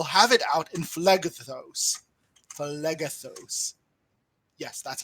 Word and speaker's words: Phlegethos: Phlegethos. Yes, that's how it's pronounced.